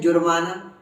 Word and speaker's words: जुर्माना: अब देखो ज में बड़ा ऊ लगाया तो बड़े ऊ में थोड़ा लंबा उच्चारण जाता है, जुर्माना, लेकिन ऐसा तो हम बोलते हैं, हम तो बोलते हैं जुर्माना, जुर्माना ऐसा नहीं बोलते।